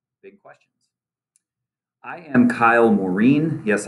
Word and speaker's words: Morean: questions i am kyle maureen yes i pronounce it morin i use he him